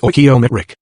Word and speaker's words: stoichiometric: The scientist calls this chemically correct combination a stoichiometric mixture, pronounced stoichiometric.